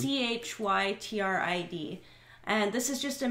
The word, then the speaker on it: chytrid: It's CHYTRID.